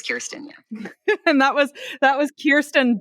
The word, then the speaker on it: Kristen: I'm like, I'll answer Kristen, Kirsten, which is how you say my name, but I don't blame people.